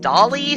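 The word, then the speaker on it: DALL-E: like a year ago Dolly spelled like WALL-E the Pixar movie but with a d instead of a w that did that I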